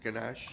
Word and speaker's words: ganache: Whipping cream and sugar are the ingredients of ganache. Melody, am I saying it right? Is it ganache? You did say it right.